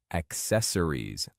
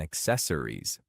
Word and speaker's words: accessories: Focus on emphasizing the second syllable.